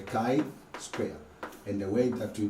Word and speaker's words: chi-square: about the chi square say with me the chi square not c squared this is called it or pronounced at the kai square and the way that